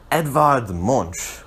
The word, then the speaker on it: Edvard Munch: His name is Edvard Munch, which is how I think it's pronounced in its native tongue.